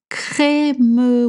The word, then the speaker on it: crémeux: Crémeux with the e sound.